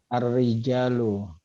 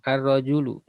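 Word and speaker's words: الرجل: Ar-rijalu. Seorang laki-laki. Nah, bacanya bukan ar-rijalu, Pak. Ar-rojalu. Ar-rojalu. Ar-rojulu. Oh, ar-rojulu.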